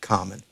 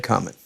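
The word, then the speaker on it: Comyn: the name of john common and common is spelt c-o-m-y-n there were two john commons father and son the father went by the name of black common and junior red cummin and red was the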